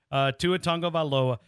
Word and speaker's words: Tagovailoa: And I mean, I was butchering it, and you taught me how to say it, Tua Tagovailoa.